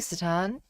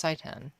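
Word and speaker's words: seitan: Um, wait, no, that's not Wait, no, that's Saiten.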